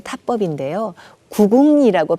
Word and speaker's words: 구궁: 기 덕과 같은 군 편 의 타법인 데요 9 붕 이라고 발음하고 마찬가지로 한 번에 힘을 주어서 두어 소리를